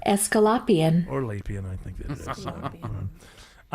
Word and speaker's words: Aesculapian: It is spelled Aesculapian. Escalapian.